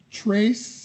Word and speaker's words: Tres: down now tracy risky trace is that how you pronounce it yeah how does it sound